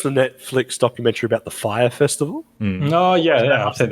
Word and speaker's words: Fyre: It's spelled FYRE, Fire.